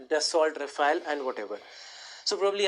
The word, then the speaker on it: Dassault: So if you would ask somebody who is French how to pronounce this, they would say Dassault.